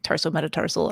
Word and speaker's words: tarsometatarsal: And you did, just to be clear and keep us on the above the 50%, you pronounced it correctly, tarsometatarsal.